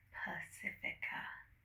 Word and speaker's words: Pacifica: Yeah, like the ocean but with an A at the end. Pacifica.